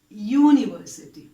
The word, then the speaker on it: university: In the word university, although it starts with a vowel letter, the sound is ya. It is university. So you use the article a.